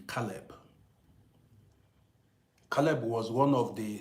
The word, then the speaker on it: Caleb: Sometimes I mis pronounce this your this your name. I call it sometimes Salb. But the right pronunciation should be Calb.